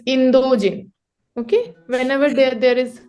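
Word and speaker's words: インド人: to say Indian so Indian in Japanese is indogen okay indogen can you please say indogen indogen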